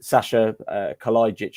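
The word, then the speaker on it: Kalajdžić: Collins GES Nunes um Sasha kit I've been told is how you pronounce it as well yeah um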